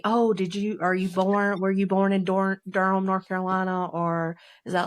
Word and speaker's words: Durham: It's Durham. And no, it's actually my maiden name. It's not the city.